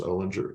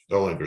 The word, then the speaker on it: Olinger: thank you so much Miss Ellinger Olinger is it how do you say your name amen Olinger oh linger so sorry no no